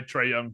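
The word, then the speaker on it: Trae Young: It's the man running the show and his name rhymes with Ray Tongue. Yeah, I think I'm I think I'm cashing out all my Trey Young chips.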